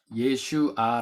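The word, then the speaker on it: ישועה: 구원 이라는 말이 나옵니다 부분 히브리어로는 예 슈아 라는 발음을 해요 예 슈가 아 히브리어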